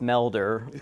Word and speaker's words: Melder: i'll start by saying it's melder like a welder but with an m but no that's all